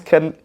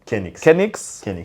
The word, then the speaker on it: Kenx: How do you pronounce that? It's Kenx. Kenx for like retarded people.